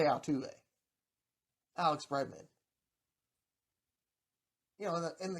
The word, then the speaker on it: Altuve: and i knew and i knew i said it wrong when i came out the first time and i still repeated it but jose altuve alex bregman you know